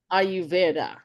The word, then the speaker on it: Ayurveda: And how do you pronounce this word? Ayurveda. Ayurveda.